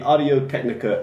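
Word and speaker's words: Audio-Technica: Yeah, so the Audio Technica ATR2100 USB. Mm-hmm. I don't think you have to pronounce the otter. Mm-hmm. Just the ATR2100 USB.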